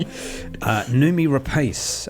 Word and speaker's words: Noomi Rapace: Noomi Rapace, I believe you say that.